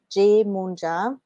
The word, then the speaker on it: Yemoonyah: is Jamie Lee jae-hoon job that's how you pronounce my name jameelah jmoon ja and you can find me at spirit guides